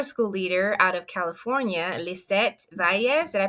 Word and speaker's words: Lizette Valles: And I am super excited today because today we are meeting with a micro school leader out of California, Lizette Valles. Did I pronounce that right, Lizette?